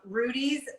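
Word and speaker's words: Rudi's: always at the top of my list um rudy's also has some really great breads for people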